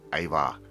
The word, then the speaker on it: Ajvar: I'm going to show you how to make Ajvar. It's spelt A-J-V-A-R.